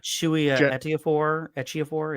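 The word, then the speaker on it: Chiwetel Ejiofor: it Chewie Ejiofor?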